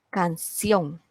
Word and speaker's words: canción: Esa es la sílaba tónica, sion.